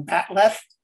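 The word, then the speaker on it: bat'leth: sword is x so it's a bach totally mangled that writing it into the script or pronouncing it or something and it came out all kinds of ways but they kind of settled on bat left which is a very non klingony thing phonologically so i kind of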